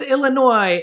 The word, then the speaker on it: Illinois: for chicago illinois and that's illinois not with an s make sure to not pronounce it with it everything right i'm just so used to always saying it illinois and i and i've had like a thousand comments saying there's no s in illinois so i i've been